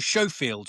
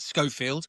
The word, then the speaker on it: Schofield: Americans actually often mispronounce it to Chafield, but it is in fact Scoffield and named after a Civil War revolver.